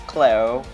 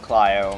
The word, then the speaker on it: Clio: annoyed about it but it's khlo not Clio my bad guys um